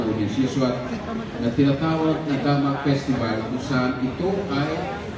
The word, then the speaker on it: Damak: Dapat Damak. Hindi pwedeng Damak. Damak. Sa Bisaya pa, alam nyo kung anong ibig sabihin ng Damak. Pero the correct way to pronounce it is Damak.